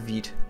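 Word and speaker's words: Vite: is the rise of Veet yes it's not pronounced white but wheat which is a front-end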